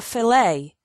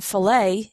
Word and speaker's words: filet: fish is called a filet the tea in filet is silent big pieces of food